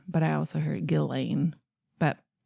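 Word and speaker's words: Ghislaine: Gizane, Maxwell, but apparently it's pronounced without the S. So S is silent. Yeah. I've heard like Gilane is how it's But I also heard Gillain.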